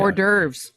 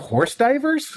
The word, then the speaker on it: hors d'oeuvres: And it takes somebody actually saying it for you to go, holy shit, that's how that's pronounced. I had no idea. Hors d'oeuvres. That's fun. Well, they're not horse divers?